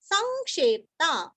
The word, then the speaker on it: संक्षेप्ता: ऊपर आघात निवृत्तात्मा निवृत्तात्मा संक्षेप्ता स के ऊपर अनुस्वार का उच्चारण वांग्मय का ग संक्षेप्ता। अभी यहाँ पे क्षेत्रफल क्षेत्र वो क्षे का उच्चारण भी अच्छे से करना है, क्षेत्र नहीं करना अथवा क्षेपता नहीं करना। आधा प और ता संक्षेप्ता संक्षेप्ता। क्षेम क्षेम कृच कृति का